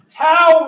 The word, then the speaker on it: tau: one rhymes with wow tau rhymes with wow many people believe that